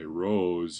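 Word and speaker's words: rho: sake of notation my rows usually look something like this and that's pronounced row and my P's I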